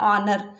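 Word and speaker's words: honour: एच यहाँ पर silent रहता है, इसको हम पढ़ते हैं ऑनर.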